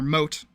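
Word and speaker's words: motte: There was the proper moat, and then there was the mot. Which I pronounced as moat, secondly. Because I didn't know if that's how it was pronounced or not.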